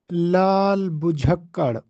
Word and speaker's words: لال بجھکڑ: کا درست جواب یہ ہے کہ یہ درست تلفظ ہے لال بجھکڑ، اور اس کا معنی اور مفہوم یہ ہے